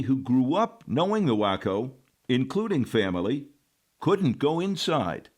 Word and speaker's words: Waco: So for family, it's always been the wacko and, um, not Waco, not Washington County. Ok. Got it. But here's another fun fact, many who grew up knowing the wacko, including family couldn't go inside serve beer here